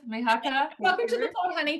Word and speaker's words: Mihaka: Her name is Mihaka. Hopefully I've pronounced it correctly. Oh, you have, Mihaka.